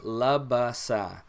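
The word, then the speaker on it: لبس: love us ah and notice that I'm saying love bus we're not gonna go into verbs today obviously because we're just starting out with the the alphabet but love aside just remember it like that so if you have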